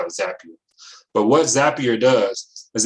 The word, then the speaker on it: Zapier: called zapier it's pronounced zapier because i'm a certified consultant with zapier people say zapier sometimes it's not zapier zapier because the actual tools are called zaps that's that's how come